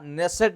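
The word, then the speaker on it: Knesset: द कनसेट medal बा नेसेट भी आप कई प के को साइलेंट रख प नेसेट मेडल तको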